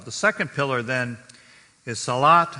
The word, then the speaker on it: salat: second pillar then is salat sometimes it's pronounced salah it has an h instead of a t but it has to